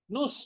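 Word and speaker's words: nous: Nus bacanya diftong. Diftong. kayak diong kan ou kan. Nah, sudah lupa kamu n bukan nose ya.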